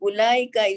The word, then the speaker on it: ulaika: Note that the waw in ulaika is not pronounced. The word is pronounced ulaika and not ulaika. So that waw is silent.